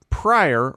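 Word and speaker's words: Pryor: It's, you know, I just realized what Richard Prior Prior rhymes with fire, which is what he set himself on.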